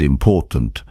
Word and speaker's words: important: For example, in the word important, the stress falls on the second syllable important.